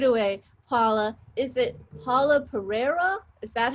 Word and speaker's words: Pereira: Paula, is it Paula Pereira?